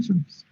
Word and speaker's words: surface: Pronunciation, surface. It's not face, no surface.